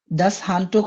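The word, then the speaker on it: das Handtuch: আবার দেখি এই শব্দগুলো দাস হান্ট এই শব্দটির প্রোনাউন্সিয়েশন দাস হান্টুক অর্থ টাওয়াল এই পিকচার দেখে আমরা বুঝতে পারতেছি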